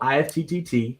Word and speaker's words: IFTTT: And so IFT is spelled IFTTT, which stands for if this then that.